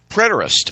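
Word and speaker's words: Preterist: He is the president and founder of the uh Prarist, how do you say that, Don? Predtoist.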